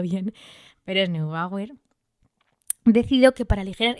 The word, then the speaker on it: Neubauer: era neubauer que no sé si lo he pronunciado bien pero es neubauer He decidido que para aligerar ese kilo porque